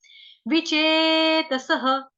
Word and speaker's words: विचेतसः: विचेतसः, विचे व के साथ छोटी की मात्रा च, चम्मच वाला पूरा, उसके साथ ए की मात्रा त, तरबूज वाला, स के साथ विसर्ग, विसर्ग का उच्चारण ह।